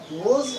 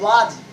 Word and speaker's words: was: हम में से कई लोग इसको गलत प्रोनाउंसिएट कर देते हैं, यानी कि मिसप्रोनाउंसिएट कर देते हैं। वाज और वेयर, ये गलत प्रोनाउंसिएशन है, दिस इज रॉन्ग प्रोनाउंसिएशन। हम लोग यहाँ पे इसको पढ़ेंगे वर्ड्स and word, वर्ड्स and word, yes.